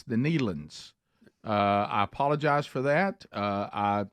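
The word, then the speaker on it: Nelons: have heard of the Neelands, and that's how you say it, Neelan. But I had not, and when I looked up and looked down, I thought the word said Nelson, and then I tried you weren't even close.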